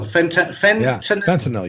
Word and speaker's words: fentanyl: How do you say it? Fentanyl. Fentanyl. You got it.